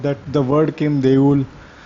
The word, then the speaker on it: দেউল: Even though actually the word, the way it is spelled, it should be deula, but in Bengali we don't pronounce it, the last o, many times it is silent, so it will be pronounced as deul.